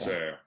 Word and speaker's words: sœur: Sœur, yeah.